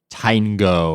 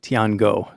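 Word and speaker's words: 天狗: think he pronounced it Tiangou. That sounds much more Chinese than what just came out of my mouth.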